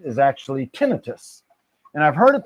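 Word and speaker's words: tinnitus: So today I learned how to pronounce what I used to call tenitis. The ringing in the ears sound is actually tinitus.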